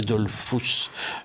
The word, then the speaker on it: Dollfuss: durement avec le chancelier Dollfuss. Je prononce son nom à l'allemande.